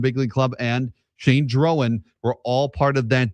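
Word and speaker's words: Drohan: And I know the pronunciation looks like Droan. It is Drowan. Drowan. Drowan. Drowan. and you're going to hear the TV and radio announcers say the same thing.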